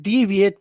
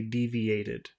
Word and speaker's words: deviated: when when a when a verb ends with a T or a D sound it adds a new syllable so you have to say deviated you have to add